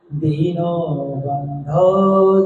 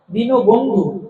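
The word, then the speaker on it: দীনবন্ধো: অনেকেই বলে হে কৃষ্ণ করুণা সিন্ধু, দীনবন্ধু, পুরো ভুল। ব্যাকরণে পুরো ভুল। করুণা সিন্ধু নয়, করুণা সিন্ধা। দীনবন্ধু নয়, দীনবন্ধা। মনে থাকবে?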